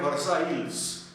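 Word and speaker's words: Versailles: जैसे हम लोग बोलते हैं ट्रीटी ऑफ वर्साई, मगर उसका स्पेलिंग है वर्साइल्स, तो ऐसे कुछ तो उनका होता है।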